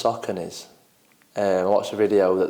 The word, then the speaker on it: Saucony: So, running trainers, I quite like and I say Saucony's, but I've just realised it's Saucony's.